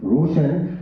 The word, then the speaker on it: Roshan: He was speaking Roshan Ali Mirza. Roshan is written as R-O-S-H-A-N, Roshan, but it is pronounced as Roshan.